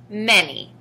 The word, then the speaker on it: many: spell it aloud together m a n y in this word the letter a stands for the short e sound e the letter y stands